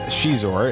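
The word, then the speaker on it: Xizor: eyes in different people it looks like zeiss or thing it's prince shizuor it's spelt x-i-z-o-r um let's give you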